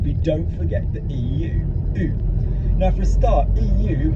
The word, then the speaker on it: eu: But EU, for the moment, for this, and to do the verb to have, like in the passé simple, is going to be pronounced U.